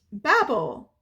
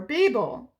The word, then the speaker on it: Babel: I am so excited it is Babel or Babel however you would like to pronounce it again I think it depends on where you're from um but Babel Babble by RF Quang oh